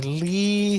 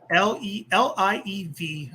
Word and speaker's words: Liev: Let me say Lee Schreiber. It's Liev, I think Liev Schreiber.